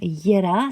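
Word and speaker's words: Jera: Voilà, donc on va commencer tout de suite avec la rune Yera, ça s'écrit J-E-R-A.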